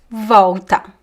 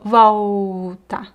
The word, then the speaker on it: volta: Ela volta, volta, volta. Another pronunciation detail here, we don't pronounce the L in Portuguese at the end of syllables. We pronounce as U. So, volta, volta.